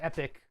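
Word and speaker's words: EPYC: atom cores oh man I have no epic pronounced epic are the server CPUs that thread Ripper is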